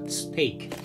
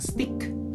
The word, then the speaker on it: steak: Tolong sekali lagi nanti baca makanan daging yang seenak ini dengan bacaan yang benar, yaitu steak. Bukan stick ya, tapi steak.